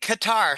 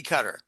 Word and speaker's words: Qatar: I I I don't Yeah, make it Qatar so it's well known and the the accent is on the second so you know what I'm talking about rather than a cookie cutter.